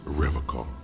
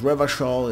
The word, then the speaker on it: Revachol: He pronounces Revachol with a hard K, unlike other people. You said Revachol, I noticed it, you know? Eagle Eye. I like to pronounce it the hard way.